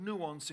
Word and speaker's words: nuance: The word nuance, in case you're not familiar with it, comes from the French word nuance. I think you pronounce it like Beyonce.